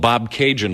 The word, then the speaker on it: Bobcaygeon: really you want and Bobcaygeon rhymes with constellation I left